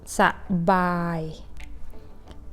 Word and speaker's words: สบาย: That's why you just pronounce สบาย just pronounce each syllable separately.